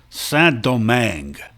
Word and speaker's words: Saint-Domingue: The French colony was called Saint-Domingue, which, by the way, is how you pronounce it, Domingue. In French, you nasalize an I if it comes before an M or an N.